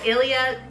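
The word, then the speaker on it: Ilia: let me just say it correctly it's the Ilya super serum skin tint broad-spectrum SPF 40 you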